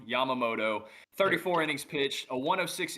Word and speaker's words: Yamamoto: League I got Yoshobu Yomamoto. I know I just butchered his last name when I typically don't, but Yoshobu Yamamoto, 34 innings pitched, a 106 ERA at the time of April 30th.